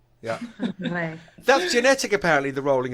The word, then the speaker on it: Whangarei: Skaz's excuse is that she can't roll her tongue, so she can't roll her R's. So how do you say it again? Whangarei. Whangarei. Whangarei. Yeah. Whangarei.